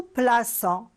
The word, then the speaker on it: plaçons: Je place, mais là, dans nous, on est obligé d'écrire le C avec la cédille. Nous plaçons pour bien prononcer la lettre C.